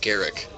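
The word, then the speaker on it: Garruk: that officially he's called Garrick oh yeah but people still call group he's definitely called Garrick but garuck just sounds dumb and I don't know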